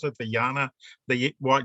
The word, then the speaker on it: Jnana: How do you pronounce it? The Yana, the what? Jnana.